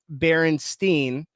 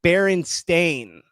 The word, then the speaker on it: Berenstain: So a large number of people distinctly remember Berenstein Bears being spelled with E-I-N at the end, making it Berenstein, but it's Berenstain.